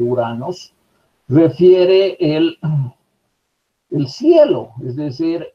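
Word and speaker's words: οὐρανός: Y el término uranos, aquí dice o uranos, pero esta o u no se pronuncia, es directamente uranos, refiere el cielo, es decir, la bóveda celeste, el lugar de los dioses, también el aire.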